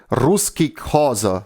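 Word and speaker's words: Ruszkik haza: So it's pronounced "Ruski Khaza," so literally, Russians go home.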